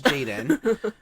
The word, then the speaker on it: Jadon: right okay um then my real name is Jaden um and it's not spelled like that uh it's spelled it's not spelled